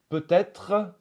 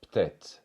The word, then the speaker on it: peut-être: parfois devenir ma chambre peut-être va devenir peê on enlève le premier e et on enlève le re de la fin peut-être peê le son